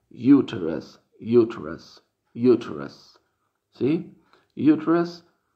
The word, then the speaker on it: uterus: Y en inglés médico se pronuncia uterus, uterus, uterus, ¿sí?